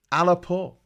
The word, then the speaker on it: Aleppo: oh well oh sorry yoni's telling me how to pronounce alba it's alaba and patrick is saying no it's alappoor aleppo aleppo am i saying that right aleppo aleppo um an